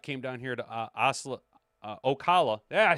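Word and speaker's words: Ocala: Kid Rock came down here to OA Okala. Yeah, I said it right. Okala, Florida back a few years back.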